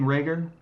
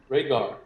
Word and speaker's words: Rhaegar: What's up, King Rager?